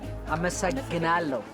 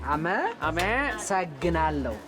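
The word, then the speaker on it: አመሰግናለሁ: Ameseghinalehu Am ... - Ame ... Seghinalehu - Ameseghinalehu How do you say, "You are very pretty"?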